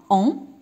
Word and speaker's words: ont: donc deux homonymes عندنا on avec t. c'est le verbe avoir, on avec t, et on, c'est un pronom, on sans t. on et on كيتنطقوا لي بنفس الطريقة ولكن في الكتابة هذا فيه t، واخا ما كنطقهاش ولكن راها كاينة في الكتابة.